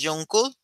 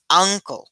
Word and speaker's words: uncle: an uncle no decimos jun decimos uncle es decir esta u se pronuncia como u Bueno aquí es como